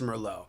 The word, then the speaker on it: Merlot: it I'm saying frog if they say Merlot it's Mero if they say you